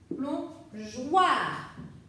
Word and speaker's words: plongeoir: Mais pour le son WA, ça s'écrit OI. Donc avec le O, pour que ça se chante J, il lui faut un E. Plongeoir.